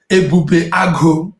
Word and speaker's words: Ebubeagu: Ebubeagu, that's how it's pronounced, Ebube.